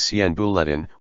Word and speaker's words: 闲部: Ministry of Justice, an idle ministry, is pronounced as Sian Bulletin, whilst the Ministry of Justice, is pronounced as Sien Bulletin.